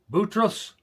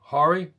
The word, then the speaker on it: Khoury: Chaos Silence Khoury? You know why I pronounced the K When I was a kid, we played baseball in a in a leagues, and it was called the Khoury League, and it was